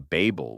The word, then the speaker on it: Babel: By the way, you may be wondering why I am pronouncing Babel with a long a.